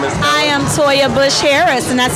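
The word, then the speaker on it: Toya Bush Harris: I am Soja Bush Harris, and that's spelled TOYABUSH, like the old president, and Harris, HARRIS.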